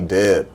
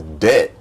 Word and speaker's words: debt: I don't have any debt. College? No, I don't have any debt. And I'm just laughing like, yo, you can't even pronounce Deb right. It's just shit is just hilarious to me. It's debt.